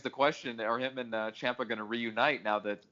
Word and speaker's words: Ciampa: pronounced Ciampa. I go by how the wrestlers pronounce their own names, and Ciampa himself pronounces it as Ciampa.